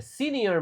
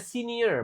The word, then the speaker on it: senior: Oke, jadi ini ya, by 2030, I will have achieved my goal of becoming a senior manager. Nah, ini ya cara bacanya senior, bukan senior. Senior.